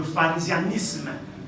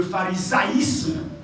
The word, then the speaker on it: pharisaïsme: que j'ai découvert ça, avant j'ai prononcé ça mal, j'ai appelé ça le pharisianisme. Non, ce n'est pas pharisianisme, c'est le pharisaïsme.